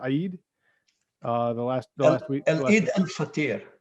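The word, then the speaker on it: Eid: of of ramadan uh it's pronounced aid uh the last week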